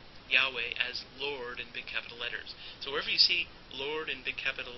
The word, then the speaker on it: Yahweh: The divine name, which is usually pronounced as Yahweh, sometimes referred to as the Tetragrammaton because it has those 4 letters, which vowels are not added to in the Jewish tradition, and in fact the name is not pronounced.